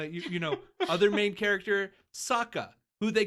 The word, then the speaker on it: Sokka: Like, this is a television show that had actual pronunciations in the show. Right. Then you have you know, other main character Sokka, who they call Soka.